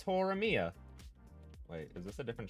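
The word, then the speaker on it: Horimiya: on hang on mhm horia or is it hor Mia what wait what do you mean is it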